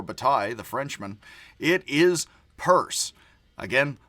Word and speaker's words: Peirce: Pronounced purse like the handbag, even though it does look, possibly, as if it's pierce like puncture. It is not pierce like puncture or rupture for Bataille, the Frenchman.